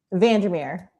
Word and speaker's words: van der Meer: How do you pronounce her last name? Vandermeer.